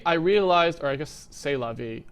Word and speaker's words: c'est la vie: Eventually, I realized, or I guess c'est la vie, I should actually use my French pronunciation because I did have to learn that in high school. Sorry, c'est la vie.